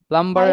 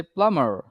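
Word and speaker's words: plumber: আমি একটু দেখায় দিই প্লাম্বারের আসল উচ্চারণ হচ্ছে প্লামার নট প্লাম্বার বিটা এখানে একেবারেই আসবে না প্লামার সো এডিশনাল এম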